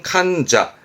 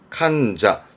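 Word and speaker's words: 患者: 요거 소심할 거 환부의 환자인데요 아픈 사람 환자입니다 발음은 칸자 칸자입니다 칸자 조심하세요 감자로 갑니다 믿을 진짜죠 어떤 신자를 말하죠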